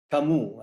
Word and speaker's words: Camous: And I guess the last word, your last name is pronounced Camous, as in Camus. Is that correct? That's correct. So, except for, I guess, the O in there.